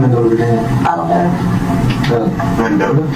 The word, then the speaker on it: Mendota: Mendota?